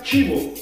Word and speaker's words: cibo: Ojo, se escucha chivo, pero se escribe cibo.